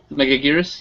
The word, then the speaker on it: Megaguirus: like a hook hand was um is it mega gyrus like a giant insect megaguirus yes megaguirus everyone say oh how it's pronounced I've been seen in Suzuki mount so